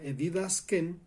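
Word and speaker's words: διδάσκειν: La palabra que en griego se usa para enseñar se pronuncia didasken y es de donde viene la palabra didáctica.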